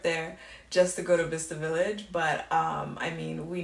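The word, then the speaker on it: Bicester: guys have chester village or how do you pronounce it you'll be saying it's different this vista village vista village you guys don't miss the village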